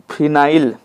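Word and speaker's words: phenyl: फेनिल group एनो फेनिल देखो फिनाइल फेनिल बो था अपना अपना उच्चारण है फेनिल ग्रुप कौन सा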